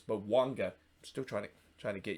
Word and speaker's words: Bouanga: Or it's not Bouanga, it's Bouanga.